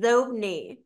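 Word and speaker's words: Xobni: Well, here's the thing: it was pronounced Zobni, and that's how they were going to pronounce it. It had the little accent mark over it, Zobni, and then right. Bill Gates pronounced it Zobni, so they changed the pronunciation of it because he pronounced it that way.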